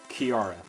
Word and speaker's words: Chiara: can get killed by Chiara. Or Chiara, rather, as I've been told it's actually pronounced.